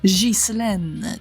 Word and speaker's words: Ghislaine: «Guilain», «Saint-Guilain», но в женском варианте этого имени возможно вообще произнесение «Ghislaine», то есть даже не «г» первое, а «ж».